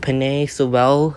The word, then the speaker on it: Penei Sewell: So I'm gonna go with Penei Sewell. I think, yeah, that's how you pronounce his name, just to get better blocking for running game, passing game, all that stuff.